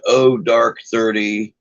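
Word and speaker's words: oh-dark-thirty: it say here about zero dark dirty usually pronounced oh dark 30 a humorous way to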